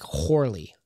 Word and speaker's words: Corley: guide it says that it's pronounced the way it's translated as with an H sound so it'd be pronounced like horley like and one could even